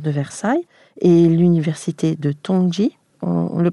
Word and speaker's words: Tongji: Depuis 2016, vous êtes directrice du double master franco-chinois à l'École nationale supérieure d'architecture de Versailles et l'université de Tongji, on le prononce ainsi, c'est ça, à Shanghai.